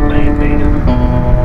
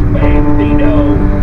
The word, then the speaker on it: bandito: Name's the bandita. That's bandito. Oh, y'all out there that say it wrong.